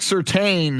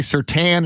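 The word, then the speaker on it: Surtain: morning opinion 210 yeah most people are saying patrick certain a lot of people say sir tan is spelled certain i know uh tanner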